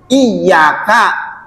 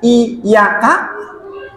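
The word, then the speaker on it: إياك: engkau saya memohon pertolongan kalau bacanya benar ynya dobel iyaka tapi kalau bacanya iyaka ynya satu enggak pakai tasdid berubah arti Enggak berubah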